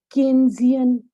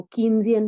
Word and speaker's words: Keynesian: अच्छा, केन्जियन, कुछ लोग इसको कीन्जियन भी पढ़ते हैं लेकिन सही प्रोनाउंसिएशन है केन्जियन। हाँ, केन्जियन क्रॉस, केन्स।